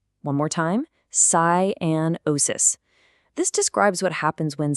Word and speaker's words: cyanosis: Let's get that pronunciation down. Cianosis. One more time. Cianosis.